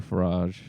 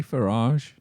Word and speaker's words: Farage: I don't know if he's still a radio presenter, but Nigel Farage, he was on LBC.